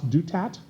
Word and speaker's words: Douthat: A typical one was the columnist, and I know I mispronounced his last name, Ross Douthat, who said, and then there's questions about Trump and the mafia.